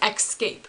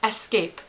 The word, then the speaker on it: escape: That's right, because there is no X in escape. It's E-S-cape. Basically, it's just E-S-C-A-P-E.